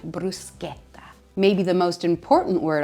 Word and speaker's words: bruschetta: It's bruschetta. Anytime you see the C and the H together, it makes a hard K sound, bruschetta.